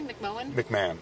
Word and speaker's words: McMahon: McMahon. McMahon. McMahon. Even though it's spelled M Yeah, it's McMahon.